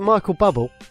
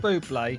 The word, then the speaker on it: Bublé: I don't mind a bit of Michael Bubble, I have to say. Say it properly. Yeah. No. No, we always call him Michael Bubble. We love a bit of Bubble. Old Bublé, he has got some talent, whatever you say, Shaun.